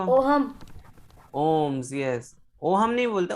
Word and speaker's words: ohm: Sir, but it is OHM हाँ, the H is silent over here.